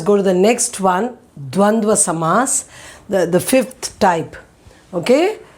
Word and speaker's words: द्वन्द्व: So the pronunciation you should know it very well. It is not Dvandva Samas or anything. Dva, and the last also it is Dva. Dva it is D-W-A.